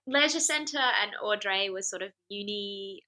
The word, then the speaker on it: Audrey: And am I pronouncing it right when I say Au Dré? Is that how it's pronounced?